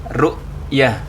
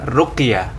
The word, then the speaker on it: rukyah: Hilal rukyat artinya melihat ingat bacanya rukyah bukan ruqyah Awas dan kliru yang kedua